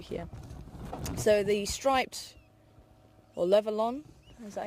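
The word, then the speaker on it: Levaillant: Because he's a Frenchman. Levaillon. Levaillon, that's it. Get the right pronunciation.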